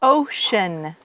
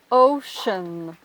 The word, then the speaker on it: ocean: Attention au mot océan qui se prononce ocean. ocean. Perfect. Donc, il s'écrit E-A-N comme les mots European, mais il ne se prononce pas de la même manière.